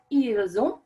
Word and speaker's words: ils ont: Ils ont and elles ont. Same thing with those S's are pronounced as Z's in English to create that beautiful liaison.